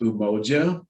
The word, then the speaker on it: Umoja: the middle and um our agency name is pronounced umoja and if you forget how to pronounce our